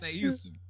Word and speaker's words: Houston: My mama fixed me real quick. I said, "Mom, that's Houston." Son, that is Houston. You better say it right.